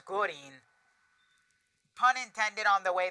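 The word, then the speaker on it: Gurren: It's not green, it's Gorin.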